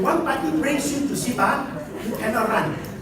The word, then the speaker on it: CIPAA: Please pronounce it properly. CIPAA, right? Not CIPAA. So it's CIPAA, and you go anywhere in the industry, it is known CIPAA is statutory adjudication, where it's compulsory.